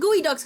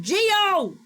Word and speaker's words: geoduck: Oh, that's why you said gooey ducks, because they're. Wait, what the fuck? Why would? Okay, why would you have the E before O if it's not supposed to be pronounced geo?